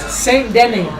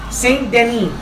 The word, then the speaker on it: Saint Denis: Saint Denis. Saint Denis.